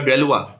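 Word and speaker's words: Galois: तो महान French mathematician, और जिनको हम ये स्पेलिंग जो भी हो प्लीज़ इनका प्रोनाउंसिएशन ये होगा डेलवा, और मेरी नज़र में वन ऑफ the best mathematician है।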